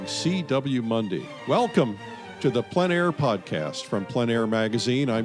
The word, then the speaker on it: plein air: The French pronounce it plein air. Others pronounce it plein air, but no matter what